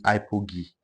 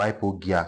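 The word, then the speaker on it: hypogaea: That one is Arachis hypogi. Arachis hypogi. Or hypogia. Some people call it gia, some call it gi. It depends on how you pronounce it.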